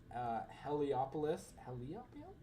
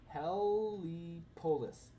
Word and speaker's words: Heliopolis: But this is my Heliopolis. Helipolis. It looks like Helipolis, but I believe it's pronounced Heliopolis.